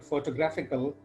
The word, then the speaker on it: photographical: And in the case of the word photographical, the stress falls on the third syllable.